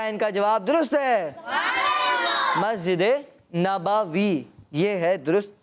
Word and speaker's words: مسجد نبوی: مسجد نبوی یہ ہے درست تلفظ.